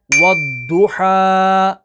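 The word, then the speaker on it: والضحى: इसी तरह आगे देखें, वद्दुहा, वद्दुहा, वद्दुहा। अब ये वद्दुहा, तो ये इसकी जो अदायगी है हरूफ मुस्तालिया की वो करेक्ट है, और वद्दुहा ये दाल के साथ हो जाता है, तो इस तरीके से इसको नहीं पढ़ना।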